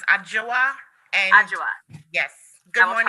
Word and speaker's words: Adjoa: You have a right to an attorney, and your attorney, is it Miss Adwa? Yes, Your Honor. Is that how it's pronounced? It's pronounced Adjoa.